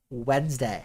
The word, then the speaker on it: Wednesday: dying on a hill wednesday has way too many silent letters in it i know